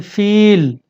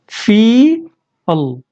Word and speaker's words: feel: Let's see here, सी, हम इसको बोलते हैं फील, फील। फी के फौरन बाद हम ला को ऐड कर दे रहे हैं, लेकिन अमेरिकन इसको बोलते हैं फी अल।